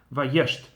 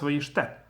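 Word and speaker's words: וַיֵּשְׁתְּ: So there are two last letters, two consonants with both Shva under them, and it's not pronounced. It's not the same as it would have been in the middle of the word. So it's just Vayesht.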